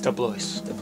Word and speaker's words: Dubois: Yeah, but we've done comedy, we've done drama, we've done mystery, Dubois. Dubois. It sounds more Irish, but it looks French. It's Irish. It is Irish.